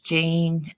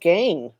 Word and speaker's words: Gein: thought it was Ed Gein well I don't know hammer down right but it's spelled G ein maybe it's just us Australians who say it well though I thought it was pronounced gene maybe it's gone now